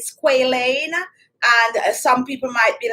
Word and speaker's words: squalane: also correct you have squalane if it's pronounced like that i'm gonna pronounce it like that because of the a and you also have